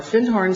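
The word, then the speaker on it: Findhorn: in the horn and he corrected my pronunciation he said you mean Finn horn he said our fin horn section is right down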